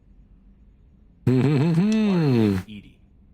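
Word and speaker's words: EDI: AI reminding me the airlock is a jar Ed Ed is the phonetic pronunciation of Eed e i for enhanced def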